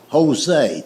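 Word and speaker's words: José: It's like the word Jose. The word Jose is J O S E, but it's pronounced with a H."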